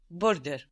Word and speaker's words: Wörter: This is actually spelt with a T, so you won't soften it. Die Wörter. When you add that ER onto Wort, the O takes an umlaut.